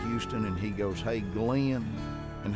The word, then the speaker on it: Glenn: and he goes hey glenn and he pronounced my name in two syllables kind of the way i was raised to hear it he didn't say glenn he said glenn he goes you know